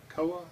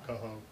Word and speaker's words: Coho: Koa? I think it's Koa or something like that. C-O-H-O? Koa? Coho. Coho. Yeah. Coho.